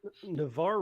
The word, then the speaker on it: Navarre: actually, Navarre rhymes with Damar, so that's close enough, and Yep.